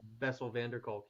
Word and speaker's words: Bessel van der Kolk: I never could pronounce the guy's name. I think it's Dutch. Oh, that's the Bessel van der Kolk.